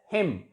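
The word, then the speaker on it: hymn: It is pronounced as him, H as a pronoun him, H-I-M.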